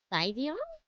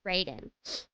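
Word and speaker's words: Raideen: I always pronounced it wrong. Saidion? Right? Raiden.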